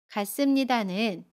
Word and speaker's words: 같습니다: 같습니다는 같습니다 라고 발음해요. 받침 티읕은 받침소리 디귿으로 발음하고요. 습은 씀으로 발음합니다.